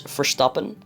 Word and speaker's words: Verstappen: supporting hamilton instead of verstappen but it's fine it's fine oh by the way in the netherlands we actually pronounce verstappen as verstappen which is his dutch name and his dutch pronunciation if you're wondering how